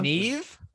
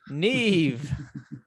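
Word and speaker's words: Niamh: her name and it's neve me we're talking about like queen maeve no her her name is spelled n-i-a-m-h interesting and more than likely that is pronounced neve but anyway their university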